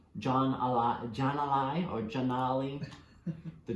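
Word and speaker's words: Jan'alai: more you hope for janaab I think it's pronounced John a lot John I Orgeon Ollie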